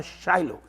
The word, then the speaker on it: Shiloh: En inglés me gusta mucho cómo suena ese nombre, se llama Shiloh. Y en inglés se pronuncia más cercano del hebreo, porque en el hebreo se escribe S-H-I-L-O. Shiloh, pronuncian los americanos.